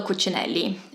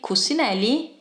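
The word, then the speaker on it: Cucinelli: not Moschino it's Moschino Brunello cuccinelli another brand that has become more popular lately so I do think it's important that we don't say cusinelli it is this is it everyone hopefully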